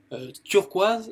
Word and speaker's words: turquoise: turquoise ou le bleu turquoise, ça dépend. Turquoise, ça s'écrit, ça se prononce de la même façon que le français. Donc turquoise, turquoise. Voilà. Donc turquoise. Quand c'est un O-I, ça se prononce O-E.